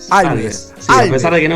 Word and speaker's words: Alvez: No, Alves. Sí, Alves.